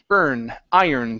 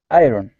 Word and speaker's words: iron: the word iron okay so here even though there's an R um we don't say id id pronouncing a hard R it's IR iron the iron iron uhuh good one more